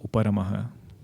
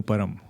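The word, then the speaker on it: उपरमः: Shamaha, Dhamaha, Uparamaha, please pronounce with the Visarga. Don't call it as Sham, Dham, Uparam.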